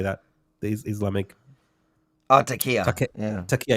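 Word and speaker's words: taqiyya: Oh, Takia.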